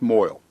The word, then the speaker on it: moil: drudgery and toil that's moil easy to remember because it rhymes chagrin CH AG rin